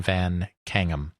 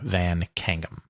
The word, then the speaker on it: Van Caneghem: John Van Kangum. I may be slightly mispronouncing, but it is somewhere in that vicinity. C A N E G H E M John Vancum.